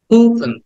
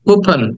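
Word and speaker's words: coupon: ছেড়ে দিবে খুবন খুব কুপন উটাকে একটু টেনে বলবে পয় তারপরে টান দিবে না কুপন কুপন আবার বলো কুপন কুপন কুপন কুপেন কুপেন না কুপন আ কিছু কিছুটা আ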